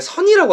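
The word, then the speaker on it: Zen: 앤 그래 그걸 올래 선이라고 하거든요 발음은 선에 선우 리그 불교에서 선인데 파이썬의 선이라고 하는 파이썬의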